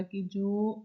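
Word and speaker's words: cage: इसके प्रनं अलग है फ्रेंच के अंदर इसको काज बोलेंगे और हिंदी जो हमारी इंग्लिश है उसके अंदर इसको केज बोलते है मीनिंग सेम ही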